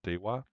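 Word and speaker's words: DEWR: I mean, DWR, but I think they pronounce it dwar.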